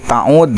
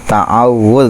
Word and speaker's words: ta'awwudz: Ade pilih ta'ud, soalnya ta'ud ayo maca ta'ud seserengan. Itu ta'awuz bacanya ya. Nu jelas mah ta'awuz, nu leres sama sanes ta'ud, ta'awuz.